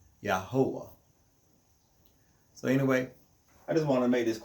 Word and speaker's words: Yahweh: We are the ones that Yahweh raised up as servants and witnesses to bear witness that he is one, and besides him there is no other.